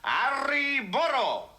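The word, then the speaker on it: arre burro: their sides and shout, "Arri burro!" Oh, and you must remember to roll your R's. Now, that's essential. Ari Burrow.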